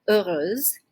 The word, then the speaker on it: heureuse: Which is related to this adjective heureux, heureuse, oui, okay? And just another note with this, we do not pronounce the H at the beginning, okay? So it's actually silent.